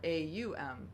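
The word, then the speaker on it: ॐ: have heard, OM, or AUM, if we're Aum, would be how it's pronounced in Sanskrit, the sacred language of yoga in India and Eastern tradition.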